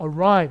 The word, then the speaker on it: arrive: 객원 연사가 그다음 arrive 강세 뒤에 있어요. arrive 이렇게 뒤로 가고 예는 뚝 떨어져요.